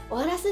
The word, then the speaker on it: AORUS: なので皆さんもこの機会に、あ、オーラスって読むんだなって覚えていってください。